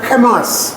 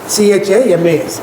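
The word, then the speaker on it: חמס: So it is pronounced as Hamas, CHAMAS, Hamas.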